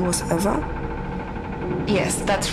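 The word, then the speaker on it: Ewa: a lifeless machine besides eva is spelled e w a not e v e i thought we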